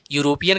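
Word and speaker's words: European: यूरोपियन का उच्चारण किससे है? या से है। यूरोपियन का उच्चारण या से है और ये कॉन्सोनेंट साउंड है, इसलिए इसके पहले ए आएगा।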